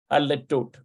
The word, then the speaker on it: הדלתות: Hadletot.